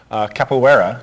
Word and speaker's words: capoeira: Capoeira, do I pronounce that correctly?